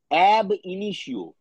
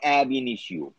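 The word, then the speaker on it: ab initio: তার একটা লিস্ট দেবো লিখে নাও লিখে নাও অ্যাব ইনিশিও লেখো এবি স্মল লেটারে লেখো এবি একটু স্পেস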